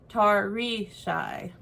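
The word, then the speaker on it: Tarisai: as a glossary and the character's name is pronounced tarry shy which is nowhere close to her i was so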